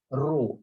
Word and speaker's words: rho: Where the symbol is, the pronunciation for that symbol is rho, R-H-O, rho.